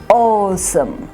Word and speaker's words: awesome: cabbage college bug awesome don't we say that awesome so what are we doing we're putting stress on the first syllable awesome now all words